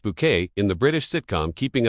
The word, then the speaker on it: Bucket: However, it was in 1990 that Patricia reached household name status when she was cast as highest bucket pronounced bouquet in the British sitcom keeping up appearances.